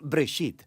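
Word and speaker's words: בראשית: Génesis viene de una palabra hebrea, se pronuncia bresit, simplemente significa principio.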